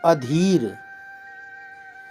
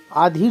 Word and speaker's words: अधीर: अशुद्ध शब्द क्या है अधीर अधीर होता है कैसे लिखते हैं अ धीर अधीर आधीर नहीं होता अधीर होता